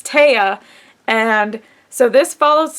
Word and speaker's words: Tea: And this is the continuation of the story about, and they did say her name is pronounced Taya, and it's not pronounced T like I thought it was. It's Taya.